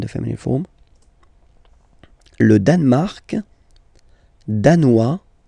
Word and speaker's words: danois: Le Danemark, danois, danoise. Z, hein? Okay, insist on that. Danois, don't pronounce the final S. Danoise, here you pronounce it.